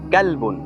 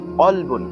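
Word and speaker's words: قلب: হরফের উচ্চারণ ঠিকভাবে না করা, কাফকে কফ বলা, যেমন ক্যালবুন। ক্যালবুন অর্থ কুকুর, আর কলবুন, কলবুন অর্থ হৃদয়।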